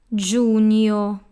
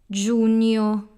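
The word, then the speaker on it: giugno: second syllable forget about the letter G this will just signal that this syllable will have a wise sound like in Fabri so that's Jun your Junio then we have Lu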